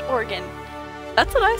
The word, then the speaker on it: Oregon: My aunt is from Oregon, and I can confirm it's pronounced Oregon.